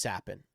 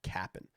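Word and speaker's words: Capan: dollars Frankie sappin uh it is pronounced sappin c-a-p-a-n not Captain so I will let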